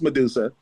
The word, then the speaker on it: MDSA: Her name is spelled MDSA, but it's still pronounced Medusa.